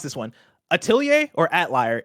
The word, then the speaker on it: Atelier: Is it French? Yeah, you got to like put the John. If it's French, then I know the pronunciation because it's Atelier in that case.